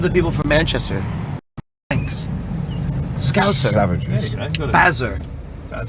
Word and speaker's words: Scouser: A scouser. Yeah. You say it like Z. Scouser. Not scouser. Scouser. There you go. There you go. No Z? No Z.